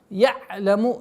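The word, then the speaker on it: يَعْلَمُ: Я'ляму, не нужно резкая такая остановка айна, потому что это является ошибкой.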